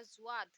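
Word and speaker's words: ظوئے: फिर आता है जुआ, इसमें भी वही होगा, जुआ पे नुक्ता लगाया, तुआ पर नुक्ता लगाया तो हो गया जुआ, जुआ।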